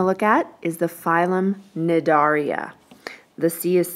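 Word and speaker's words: Cnidaria: at is the phylum nedaria the sea is silent on there it starts with a c but it's pronounced nadaria what is that you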